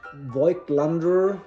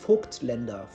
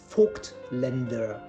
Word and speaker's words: Voigtländer: But Voigtländer is completely wrong. And the word or the name is pronounced Voigtländer. Voigtländer.